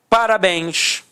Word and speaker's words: parabéns: Parabéns. Repare que a sílaba tônica é a última e é terminada em ens.